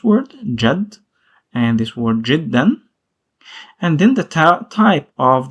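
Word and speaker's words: جدا: And you can find it also with the form jiddan, which means very.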